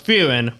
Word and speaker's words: Frieren: We are Mac, Quincy, Sister, Nate, and today we're talking about Season 1 of Frieren, Beyond Journey's End. I pronounced the name right.